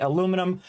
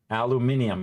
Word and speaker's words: aluminium: it in British uh British way of saying aluminum uh aluminium aluminium I think it's called am I right chat aluminium yeah see